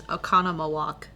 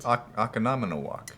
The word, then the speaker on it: Oconomowoc: one of my favorite Wisconsin towns is Oconomowoc, Oh yeah, which I has love showing 5 O's in it. Oconomowoc. Yeah. Yeah, Oconomowoc.